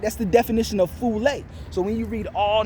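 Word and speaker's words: φυλή: It's pronounced phule, right?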